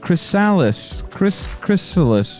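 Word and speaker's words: ChrisALYS: It's pronounced sort of like chrysalis.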